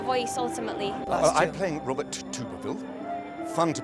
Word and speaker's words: Thibouville: I'm playing Robert THIBOUVILLE. Fun to pronounce it because not many can.